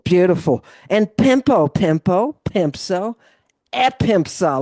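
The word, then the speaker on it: ἔπεμψα: And pempo pempo pempso epempsa. Look at the accent. Epempsa. Mhm.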